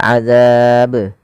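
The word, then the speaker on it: عذاب: Nah, ini menambahkan hamzah, tapi cukup azab ya, be bukan be, maaf bukan be tapi be ya, azab.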